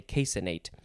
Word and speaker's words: caseinate: casein and then relatedly next we have a casinate or casinate you could emphasize the c which doesn't see i would much rather say caseinate uh so it is the word casein with